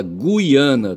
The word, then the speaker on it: Guiana: Então, é o seguinte, olha, se fala Guiana, tá certo? Gu, G U I a n a.